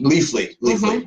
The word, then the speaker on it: Leafly: Leafly. Yeah, I was mispronouncing that.